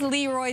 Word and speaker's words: Leroy: Thank you to everyone that helped me figure out what the pronunciation is. It is Leroy, Saskatchewan.